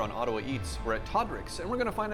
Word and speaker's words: Todrics: What is the correct one? It's Todrics. Todrics.